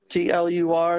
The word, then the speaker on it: Wurzler: Facebook page is my name, Wurzler, which is a German last name. It might be hard to pronunciate. It's Wurztlur is the last name.